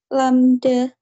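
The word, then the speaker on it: λ: rumusnya dari NQ sama lamda bacanya lambda ya Pak y i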